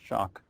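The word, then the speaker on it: Schoch: uh it's s c o c but it's pronounced shock and he's written the book forgotten civilization where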